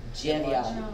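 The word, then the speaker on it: dźewjeć: Jevyat.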